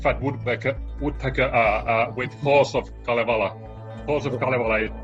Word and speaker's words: Kalevala: But the Halls of, how is that pronounced? Kalevala.